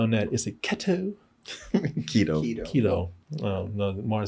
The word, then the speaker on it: keto: Keto.